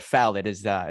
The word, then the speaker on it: Fallat: that it's a it's a unique name but foul that is how you pronounce it and the funny thing